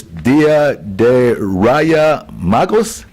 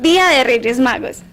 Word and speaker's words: Reyes Magos: of the Wise Men, but in Spanish it's Dia de Raya Magos. Explain it to me. I turn it back. How do you say it? Dia de Reyes Magos.